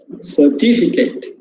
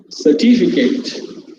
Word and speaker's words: certificate: as i told already you can find the stress marker here on the second syllable sir certificate you should say certificate certificate certificate you have